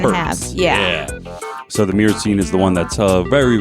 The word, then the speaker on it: myrcene: I like to add the Y in there, though, because it's M-Y. So some people who spell it M-U-R, like if we're spelling it phonetically, like myrcene. I always like to add the little Y in there, myrcene, but it's probably wrong.